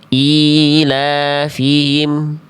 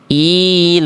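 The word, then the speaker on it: إيلافهم: Contoh, ilafihim. Hi-nya ada, tapi tidak jelas. Ilafihim. Harusnya ilafihim.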